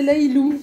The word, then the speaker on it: Lailou: Et en fait, ça s'écrit L-A-I-L-A. Et mon surnom, c'est Lailou, quand j'étais petite.